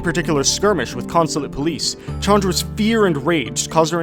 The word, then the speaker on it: Chandra: As a quick side note here, I have in the past pronounced it Chandra, but apparently it is indeed Chandra, as referenced here in this trailer clip.